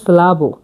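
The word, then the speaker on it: slabo: হালকা বলা হচ্ছে স্লাবু।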